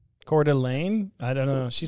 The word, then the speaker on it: Coeur d'Alene: spokane washington or spokane i think they say they pronounce it spokane they pronounce it court elaine i don't know she